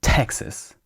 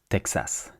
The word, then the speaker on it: Texas: In French, we we say a full a sound.